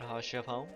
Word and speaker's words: Haurchefant: But now we gotta go re-report to Lord Haurchefant.